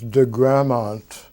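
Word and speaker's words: de Gramont: Ted Morgan formally known and how do you pronounce the growth saucer was my first day that my last time was degramont de GRA mo NT and Ted Morgan is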